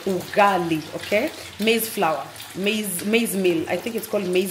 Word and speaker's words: ugali: I was talking about ugali some people were mispronouncing it it's called u u g a l i ugali okay Maze flour maze maze meal I think